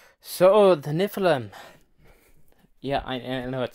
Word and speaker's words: Nephilim: so the Nephilim yeah I know it sounds like I'm mispronouncing the land of the land of the Gods but no it's not niflheim it's Nephilim yeah sounds like a sneeze these people who wrote